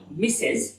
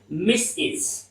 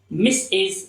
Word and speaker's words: Mrs: মিসেস যেমন মিসেস Mariam যদিও আমরা বাংলাদেশীরা বলে থাকি মিসেস আসলে এটার সঠিক উচ্চারণ হলো মিস ইজ মিস ইজ Mariam মিস মিস যেমন